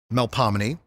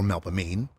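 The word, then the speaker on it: Melpomene: on the parade route like mel palmini or melba mean calliope or calliope or chirp sickery or terpsichor it's new orleans you can pronounce them any way you want well this parade is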